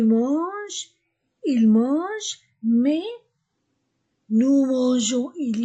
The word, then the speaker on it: mangeons: nous mangeons parce que la lettre G avec e I et y se prononce je avec les autres lettres se prononce gu so c'est pourquoi pour